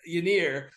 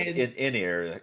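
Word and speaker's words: Ynyr: parts getting healed by Yianir I think it's Yianir yeah you're right it's inir is how it's pronounced apparently uh and then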